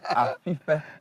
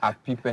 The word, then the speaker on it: Apipe: No, you're not saying it right. It's Apipe. It's like you are whistling. It's not Apipe.